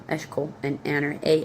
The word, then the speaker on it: Eshkol: E s h c o l, Eshkol, and Aner, a n e r, all of who were allied with it.